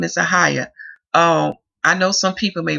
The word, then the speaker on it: Ahiah: But in this tongue, in the English tongue, that is how it's pronounced, Ahiah, okay, which means brother of Yahuwah.